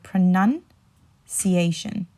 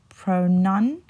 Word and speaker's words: pronunciation: the middle right so pronunciation I'll say that again pronunciation pronunciation so you want to put the nun instead of the noun so if I say